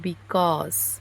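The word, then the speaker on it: because: Pronunciation सही किए हैं बिकॉज, BE का B हुआ और CAUSE का कॉज हुआ, बिकॉज।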